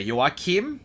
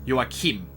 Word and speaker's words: Joachim: Joachim. Kim. Okay, so it's a shorter I instead of a longer I.